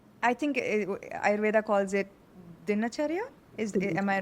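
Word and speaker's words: dinacharya: and so what I think Ayurveda calls it dinachara is am I right? Exactly. And pronounced exactly the way it you pronounced it.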